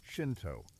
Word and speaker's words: Shinto: Shinto, pronounced Shinto, meaning way of the gods or way of the spirits, represents Japan's indigenous spiritual tradition.